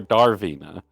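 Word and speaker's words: Dravina: Darvina En It's D R A not D A R Draina or Darvina Darvina the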